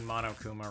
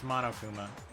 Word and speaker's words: Monokuma: realized we've been pronouncing Monokuma wrong. It's Monokuma? No, it's Monokuma. It's Mono, not Mono? Yeah, because he's monochromatic.